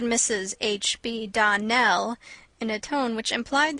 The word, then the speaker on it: Donnell: you pronounced our name Donal now miss shely the correct pronunciation of our name is Donell Accent on the last syllable I hope you'll remember